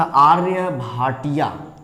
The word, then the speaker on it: आर्यभट: अगर हम बात करें तो एक इंडियन साइंटिस्ट जिनका नाम था आर्यभट्ट, ठीक है। अगर उसका इंग्लिश प्रोनाउंसिएशन अगर तुम लोग करोगे तो उनको ऐसे बोला जाता है आर्यभट्टा।